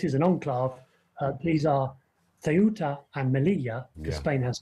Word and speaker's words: Ceuta: speaker, so tell me how it should be pronounced. Ceuta.